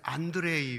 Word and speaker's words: 안드레이: 이것은 안드레이 목사라는 분인데, 안드레가 러시아 발음으로 안드레이가 됩니다.